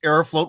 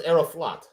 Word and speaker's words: Aeroflot: up I thought it's aeroflot uh dude it's it it's it depends on your pronunciation but I think that Arrow float sounds nicer okay but it is written f-l-o-t in Russian yeah okay uh so